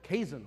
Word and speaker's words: Kazen: Which unfortunately left me with Kazen, rhymes with raisin.